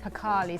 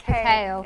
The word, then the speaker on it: percale: I never know how to pronounce this. Pacali, some people pronounce it, but it's percale.